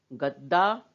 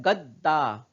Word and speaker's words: गद्दा: जैसे यहाँ पे मैंने पूरा दा कहा, दा, लेकिन यहाँ पे द आधा हो जाता है, गद्दा। हम लोग गददा नहीं पढ़ते, है ना।